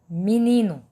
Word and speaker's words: menino: Se eu disser o exemplo é menino, se escreve menino, mas ninguém fala assim, menino, menino.